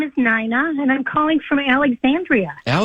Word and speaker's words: Nina: Nina? It's N like Nancy, INA. So it looks like Nina, but it's Nina.